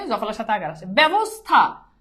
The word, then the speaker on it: ব্যবস্থা: জফলের সাথে আকার আসে ব্যবস্থা আকার নাই আকার আছে আচ্ছা বলতো এইটা কি